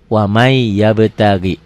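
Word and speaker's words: وَمَن يَبْتَغِ: nun mati ketemu ya waman yabtagi dibacanya jadi apa Jadi wamai tuh lisan dan bacaan beda tulisan bacaannya beda ditulisnya waman dibacanya wamai tuh wamai yabtagi gitu ya beda kalau dengan Idhar tulisan dan bacaan sama kalau idgham kalau idgham tulisan dan bacaan berbeda ditulisnya ya waman dibacanya wamai berikutnya Lan nadua hukumnya apa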